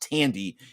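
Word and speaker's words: Thandie: um Tandy Newton I believe her name is pronounced Tandy even though it looks like it's fandy uh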